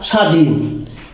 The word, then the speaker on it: স্বাধীন: এরকম ভাবে আছে কি স্বর, স্বতঃস্ফূর্ত, শিকার, স্বাধীন। তাহলে এখানে যে স্বাধীন লিখছি এটা স্বাধীন হয় না, স্বাধীন হয়। কেন? শব্দের প্রথমে যদি বফলা থাকে সেই বফলাটা সাইলেন্ট থাকে।